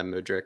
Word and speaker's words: Mudryk: turn nothing into something, as Michaela, is it Mudryk? Is that how you pronounce his name? Yeah, Mudryk.